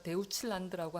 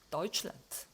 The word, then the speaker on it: Deutschland: 요거 데우츠라고 읽지 않는다. 우리가 데우칠란드라고 하지 않잖아요. 그죠? deutschland.